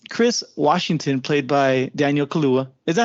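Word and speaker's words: Kaluuya: Washington played by Daniel Kalua is that how he's about to pronounce his name yeah I think so yeah I think it's kaluya not Kalua uh Daniel kaluya Chris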